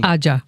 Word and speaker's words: Ajja: about the genesis of Ajja. I'm going to say it as many times as I can. It's still wrong. Ajja. Ajja. Ajja. Yeah, Ajja. It's not soft. It's hard.